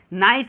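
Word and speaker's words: nice: भी English word होगा जब उसके अंत में ई आ जाता है तो ई जो होता है क्या होता है वहां पे ई जो है साइलेंट होता है जैसे यहां पे नाइस देखिए नाइस तो यहां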